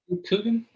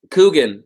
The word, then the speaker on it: Coogan: It's got Steve Coogan. Is that how you say it? Yeah. Coogan? Coogan.